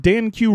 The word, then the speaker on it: Danq: And guys, you can find me on Twitter at DanQ Writes Thing. That's DanQ Writes Thing singular. Danq. It's actually Dank. Yeah, it's pronounced Danq. Dank.